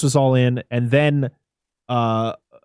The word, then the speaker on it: Cawthon: But he Cawthon. Bitch. Like a coffin.